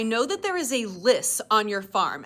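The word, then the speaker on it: lios: The old man's like, "Okay, I know that there is a list on your farm." And a lis looks like Leos, but the Irish pronunciations are telling me it's list.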